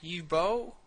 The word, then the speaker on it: Uwe: do you even say his name it's like ubo U ubo ubo it's UWE u b UI